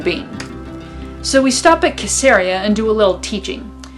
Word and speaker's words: Caesarea: You would recognize it as Caesarea, because it's named after Caesar, but in Israel it's pronounced Caesarea.